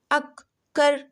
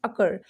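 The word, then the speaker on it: occur: को आप क्या पढ़ेंगे अक कर या अस सर यहां पे अक सर बिल्कुल भी नहीं इसको पढ़ना है अकर एक ही प्रन डबल सी की क्या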